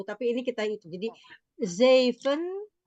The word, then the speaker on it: zeven: Zeven. Oke. Eight. Acht. Ya. Ya. Negen. Negen. Sama dengan zeven, E-nya dibaca 2.